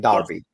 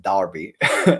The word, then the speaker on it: Derby: April uh in the Midlands in Derby in Derby I still need to find a right way to pronounce it Darby in Darby just remember it's an a not